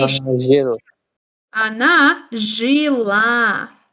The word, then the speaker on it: жила: она жила? The stress is on a.